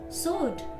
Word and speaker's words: sword: W is not pronounced in these words. Answer, sword, tool, hole, wren, wrap, wrist, writing, wrinkle, and wrong.